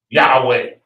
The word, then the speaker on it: Yahweh: Where they're saying, ya, ha, wa. That's it. You can't say it in any other language. But when they say, what they were saying was Yahweh.